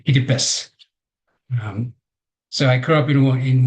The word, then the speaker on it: Kiribati: The name is Kiribati. That's how you might pronounce it here. The TI at the end sounds S, so we say Kiribati.